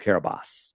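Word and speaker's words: Kiribati: it said it's registered to the nation of Kiraabati. Interesting. Registered to the nation of Kabat. It's pron people yell at me. It's spelled K Carabati, but it's pronounced Kabos.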